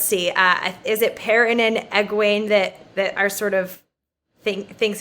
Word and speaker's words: Egwene: Egwene. Okay, got it. Egwene. And let's see, is it Perrin and Egwene that are sort of thinks it's all being made up and are the more skeptical ones?